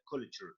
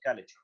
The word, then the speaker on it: culture: okay note the pronounces the pronounce of the word culture not college culture okay culture and here is